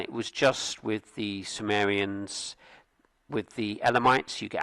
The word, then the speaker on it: Cimmerian: I'm going to say Samrian, which is what we say apparently in French and English uh in the Greek and Latin. I think it's more of a K sound.